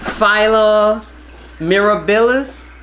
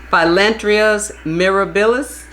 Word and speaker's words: Phyllanthus mirabilis: Philo mirabilis. Phyllanthus mirabilis.